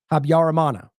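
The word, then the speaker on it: Habyarimana: ultimately did replace them that is how you pronounce that habarana the newly released documents however provide no answer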